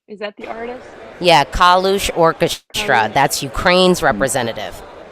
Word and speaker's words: Kalush: Yeah, how do you pronounce, is it Kalush? Is that the artist? Yeah, Kalush Orchestra.